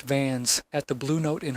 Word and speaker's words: Vance: I doubled back to Charlie Vance, pronounced Vans, at the Blue Note in Harlem, where the air was thick with jazz and cigarette smoke.